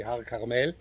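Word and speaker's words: הר כרמל: We say Har Carmel. It's the proper pronunciation.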